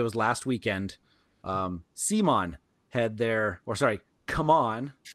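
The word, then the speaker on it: CMON: I'm just like before this, like just before recording here, maybe it was last weekend, Simon had Come On, is how you're supposed to pronounce it now, had a virtual expo.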